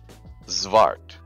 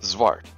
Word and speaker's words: Xvart: of very small creatures zart so that X at the beginning is pronounced like a zed or a z depending on whether you're Canadian or American zart and you can actually